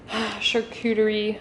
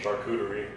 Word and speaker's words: charcuterie: do you say it charcuterie no the no queue sound charcuterie why are you being